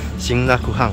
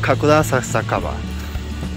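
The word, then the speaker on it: 神楽坂: I initially thought Kagurazaka was called Shinrakuhan in Japanese, but after listening to the announcements on the subway, I learned it's called Kakurasakaba.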